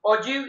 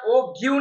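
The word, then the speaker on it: ogive: ओजीव इज a kind of graph, या तो the term ओजीव is pronounced as ओजीव, कोई ऐसा ओग्यू नहीं पड़े, don't read is ओग्यू, इट इज ओजीव and is derived from the word OG.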